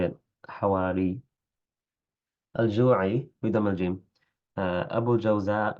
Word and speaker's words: أبو الجوزاء: أبو الجوزاء بفتح الجيم وبالزاي، اسمه أوس بن عبد الله، وكيل أوس بن خالد.